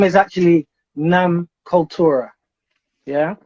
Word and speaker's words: Nam Cultura: up with the idea starting off first with nam culture all right so i'm gonna have to correct you there so that the name is actually nam kultura yeah called torah oh okay so we pronounce